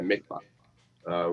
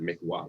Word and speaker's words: mikvah: is what they call they pronounce it a mikvah, which is I might pronounce it mikvah with a W sound, which is a body